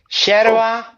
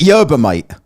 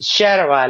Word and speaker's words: Yerba: I call it Yerba Mate. Yerba Mate, yeah, most people pronounce it like that, but it's Sherwa, like if it was with an SH.